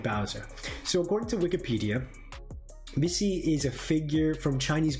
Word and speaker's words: Bixi: So gang, I will go into today's mythology, the backdrop for this entity called Bixi. I think the actual pronunciation goes Pishi. PC, maybe.